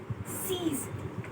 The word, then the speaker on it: six: Six is, we have the same spelling but we pronounce it as seize.